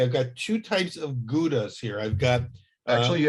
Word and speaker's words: Gouda: 36 month old age gouda you pronounce it galda the diamond the the dutch would pronounce it like k-h-o-w-d-a chowda caulda of course and there's an american i always have called it gouda but you can see